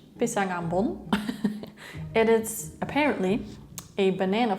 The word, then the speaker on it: pisang ambon: I will just pronounce it in Dutch, pisang ambon.